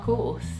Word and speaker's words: course: Americans pronounce the R very clearly, and we use the back of our tongue to make that sound. But the British people basically just make the vowel sound longer, and they don't really pronounce the R at all.